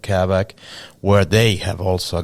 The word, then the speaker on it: Kavak: How do I pronounce this? Kavak.